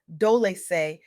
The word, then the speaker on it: Dolce: I'm your host, Dolce, pronounced dole like sweet softness whispered in French.